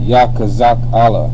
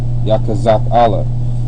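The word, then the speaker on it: יחזקאל: most high strengthens and you pronounce it Yak kazak Allah Yak kazak Allah all right so you got yah which is most High's name kazak means strength and Allah means uh Power all right or or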